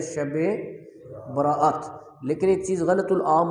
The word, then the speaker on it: شب براءت: عرف عام میں سے لوگ شبرات بولتے ہیں، حالانکہ اس کا درست تلفظ ہے شب براءت، لیکن ایک چیز غلط